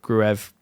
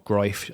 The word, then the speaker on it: Gruev: Gruev, or Groif, as we should now be calling him, now we are enlightened to the pronunciation of that name.